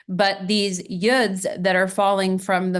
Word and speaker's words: yod: yeds or Ys the the correct pronunciation is yud but um everyone you may know it as Yad but these yods that are falling from